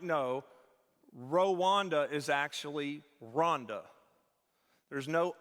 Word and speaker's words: Rwanda: on his behalf to tell you it's rhonda okay pamela will say it's like help me rhonda help help me ronda